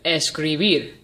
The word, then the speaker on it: escribir: third to last syllable now let's try the word escribir I'll say it one more time escribir escribir is Agatha because the emphasis is on the last syllable beer now the last